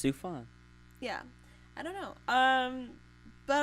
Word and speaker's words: Sufjan: It's Sufjan. Yeah, I don't know. But I would love to see him at the Oscars. Just weird ass Sufjan Stevens.